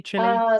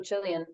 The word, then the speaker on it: Chile: about Chile it might it is Chile is the correct pronunciation Chile chili so this is the point of high drama amongst Chileans a lot of people prefer for people to say Chile but I think like